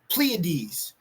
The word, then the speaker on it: Pleiades: How do you pronounce this? Pleiades.